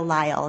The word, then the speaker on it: Lyle: So you wrote both of them with your partner in crime, Andrea Lyle. Is that how you say her name? Lyle.